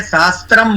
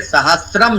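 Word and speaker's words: सहस्रम्: अब इसको बहुत लोग गलत उच्चारण करते हैं, सहस्त्रम बोलते हैं। तो वो समझ ले, वो हमें ध्यान रखना है कि अशुद्ध उच्चारण है, ये सहस्रम शब्द है, सहस्रम। इसमें तो र जो लगा ये पूरा है, स आधा। हाँ एग्जैक्टली, जो ये सहस्रम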